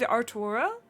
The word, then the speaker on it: Artoirel: To aid Artoirel? Is it? How do you say that? Yeah, it'd be like Artois, and then like an L, so like Artois.